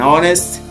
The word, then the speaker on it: honest: We we mean we want to say that this H is not pronounced.